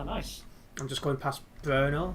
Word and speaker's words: Brno: I'm just going past Brno, how it's pronounced.